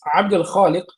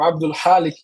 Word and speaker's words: Abdul Khaliq: Mas Abdul Khaliq é dificílimo para os brasileiros pronunciarem. Então as pessoas pronunciavam Abdul Halik, que significa servo do